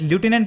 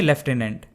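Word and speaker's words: lieutenant: Basically American English में इसे एज ल्यूटिनेंट pronounce किया जाता है और ब्रिटिश इंग्लिश में लेफ्टिनेंट।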